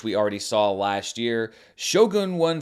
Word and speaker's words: Shogun: I'm saying Shogun because Hiroyuki Sanada said Shogun. That's how he pronounced it, and I'm just going to take his word on that one.